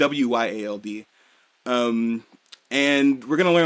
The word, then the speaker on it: Wyald: And we get the most fucking terrifying picture and a full reveal of Wild, Wild, however you want to pronounce it. It's Wyald.